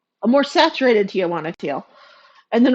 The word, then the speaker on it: Tijuana: Everyone pronounces it Tia, and it's Tijuana.